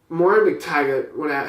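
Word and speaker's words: Moira MacTaggert: Moira McTaggart, however you say that name, That's exactly how you say it.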